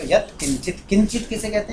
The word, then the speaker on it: किंचित: ऐसे आप जो पूछ रही थी ना, वो उसमें वो है, ये इसका उच्चारण किंचित तो हो जाता है, पर की यहाँ वाला ध्वनि आनी चाहिए।